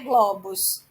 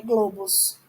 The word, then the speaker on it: globos: Globo, não é globos, é globos. É fechado, tá?